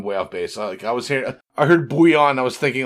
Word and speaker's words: bouillon: And yeah, so bouillon in French, if you were to pronounce it the French way, would be bouillon.